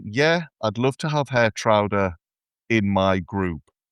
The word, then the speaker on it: Geertruida: I'd love to have Geertruida in my group. See, I pronounce it Geertruida, so there's another variation.